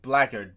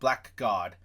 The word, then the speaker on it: Blackguard: The Assassin, you get the Blackguard, and it's pronounced Blackguard, by the way, from my understanding, not Blackguard.